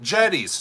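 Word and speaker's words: Jetty's: themed because it's called Getty's. How about that? Jetties, Tom says. Damn it, I've been pronouncing it wrong. Like a jetty that goes out.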